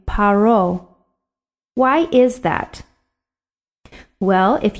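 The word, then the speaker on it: פרעה: one of those letters in this case the pay is making the hard sound paro if it were making the soft sound we would pronounce it pharaoh but in the hebrew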